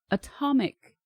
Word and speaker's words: atomic: We say atomic. We actually pronounce the T.